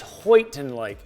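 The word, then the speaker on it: Houghton Lake: choosing i'm trying to say it right it's hoyton lake h-o-u-g-h-t-o-n it's in michigan uh way up there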